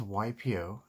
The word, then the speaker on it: Waipio: pew so this is ypo and so you uh pronounce it y like y and then p and o y p o it's